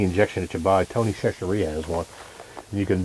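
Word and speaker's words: Chachere's: Tony Chachereapos has one. And you can. How do you say that? Tony Chachereapos. That's the seasoning. It's not cashier. Chachereapos, whatever you want to say.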